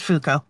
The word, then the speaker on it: Fuko: who are serving other people how do you pronounce her name which which one our main person Fuko it's just Fuko okay my brain wanted to add something you